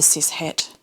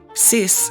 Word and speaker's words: cis: something other than the siset kind of young person because that's now not not cool that means you're boring I should probably explain sis Hesh CIS spelled c i s